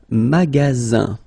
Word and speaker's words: magasin: Le magasin. Okay, remember you've got only one S between two vowels. Then you get the sound Z, alright?